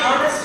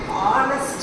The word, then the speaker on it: honest: ஏன் honest man சொல்லிருக்கீங்க? No. Here H silent. Honest man. இந்த வார்த்தை எப்படி pronounce பண்ணணும்? Honest man. No ha.